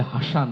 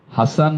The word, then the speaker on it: হাসান: Scene উচ্চারিত হচ্ছে ওইটি বাংলা স এর কোন হিসেব না হাসান হোসেন এটি বাংলা কোন শব্দ নয়। এটি বিদেশী শব্দ। যে কারণে এটি আরবি সিন উচ্চারিত হয়।